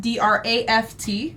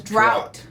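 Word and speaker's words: draught: years old 22 to know that draft d-r-a-f-t right and draft d-r-a-u-g-h-t are pronounced the same i always pronounce draft as draft and then the other one as drought like water is missing yeah yeah yeah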